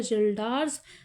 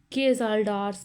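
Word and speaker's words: Kjeldahl: जिसको हम बोलते हैं जल्डर्स फ्लास्क यहां पर केस साइलेंट है कभी के जल्डर्स पढ़ लो के साइलेंट है ठीक है बड़ा एक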